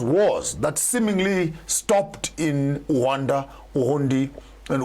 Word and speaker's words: Rwanda: I just learned how to pronounce it properly today. It's not Rwanda, it's Rwanda, Uganda, not Uganda, Uganda.